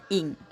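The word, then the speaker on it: 影: ภาษา ไทย นะ คะ คำ ว่า อิง ข้าง หลัง คือ ไม้ เอก นะ คะ ออก เสียง เป็น อิ่ง นะ ไป พิมพ์ ผิด ว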